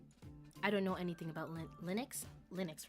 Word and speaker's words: Linux: No MS pain on Linux. Wait, really? Doctor, turn off the cringe inhibitors. Nah. Nah. Let it go free. full blast. I don't know anything about Linux.